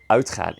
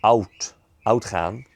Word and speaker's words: uitgaan: So being able to pronounce that as uitgaan instead of outgaan, it helps a lot.